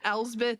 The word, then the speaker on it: Elspeth: Oh my gosh, the amount of clarification I ask from people, and apparently Elsbeth is pronounced like it is a B, like you're just supposed to roll right through it.